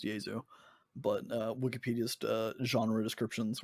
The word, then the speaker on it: Jesu: their wikipedia which is why i know it's pronounced diesel but uh wikipedia's genre descriptions were like shoegazing